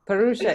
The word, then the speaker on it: Parusha: Parusha is the way it's supposed to be pronounced.